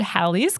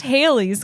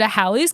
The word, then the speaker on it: Halley: the guy who discovered halley's comet yeah i learned this time around that it's not pronounced haley's comment i kind of thought